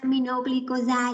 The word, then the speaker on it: aminoglycoside: bằng aminoglycoside a lại các em đọc là aminoglycoside là đọc theo tiếng Anh nhưng mà nó có một cái lực bất thành văn đó là trong ghi âm sàn thì thường tên thuốc thì mình sẽ đọc theo tiếng Pháp bị dễ biết hơn